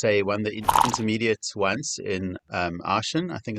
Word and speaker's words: Aachen: Sorry, he goes on to say he won the intermediate once in Aachen, I think it's pronounced, Max? Aachen.